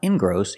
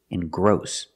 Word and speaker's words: engross: at this word engross we put the stress on the second syllable it's not ingross it's engross and gross is a verb